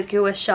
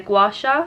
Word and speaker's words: gouache: so nice and cold i've also been calling this a gouache and apparently it's actually a gouache something like that i've been pronouncing it wrong so apologies if i offended anyone with my guru shah so essex this is